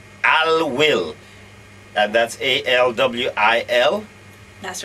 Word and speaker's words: Alwil: I hope I pronounce it right. Denny is the expert. Avira antivirus. Avira. Yes. Alwil. Alwil.